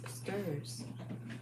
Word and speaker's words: str: have text values called strings or s t r s pronounce stirs always around your string